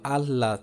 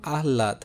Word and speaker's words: আহ্লাদ: আচ্ছা, যেমন দেখো হৃদয়, হৃৎপিণ্ড, হৃৎপিণ্ড, হ্যাঁ, মানে অপরিহত, আচ্ছা, হর সাথে যদি ল ফলা যুক্ত থাকে তাহলে প্রথমে ল ফলা দুইবার উচ্চারণ হবে, হ্যাঁ।